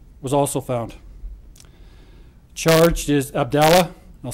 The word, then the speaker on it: Abdallah: Charged is Abdallah, I'll spell that for you, A-B-D-U-L-L-A-H, Amer, A-M-E-R, 18 years of age, and Balal, B-A-L-A-L, Jeha, J-E-H-A, 19.